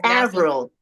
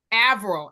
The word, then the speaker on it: Avril: your name again because I have been It's Avril. Avril. I've been pronouncing it wrong.